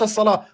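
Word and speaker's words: الصلوة: Ensuite, as-salwa. Alif, lam, sad, lam, waw, ta marbouta. Mais qui se prononce as-salat.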